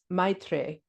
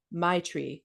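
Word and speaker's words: मैत्री: The Sanskrit is pronounced Maitre, if I get that right. Sort of like Maitri or Maitre.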